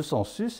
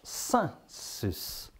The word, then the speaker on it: census: EN, ça ne se prononce pas en, hein, pas toi. Et ça se, EN, ça se prononce A. Voilà, tout dit. Alors, on dira pas census, on dira sensus.